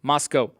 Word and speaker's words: Moscow: 7 p.m as well from moscow spelled like moscow pronounced moscow so anyway uh that